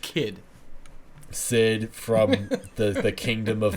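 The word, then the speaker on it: Cid: a lot of people yeah yeah okay it's pronounced kid Sid from the the kingdom of midgar and he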